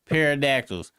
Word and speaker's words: pterodactyls: It was no parodactyls. And I refuse to use a T cuz that's stupid. That's right. I Yeah, I'm saying the actual spelling the way they said it is dumb.